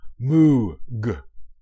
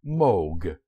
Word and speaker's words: Moog: fine man's surname properly it is not pronounced as moo moo is a sound made by a cow after she painfully stubs her hoof despite its double O the name is pronounced Moog as inv Vogue Moog